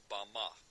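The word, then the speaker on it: bamah: in the Strong's Hebrew Dictionary, and it is pronounced Bama. Bama is most commonly used to refer to a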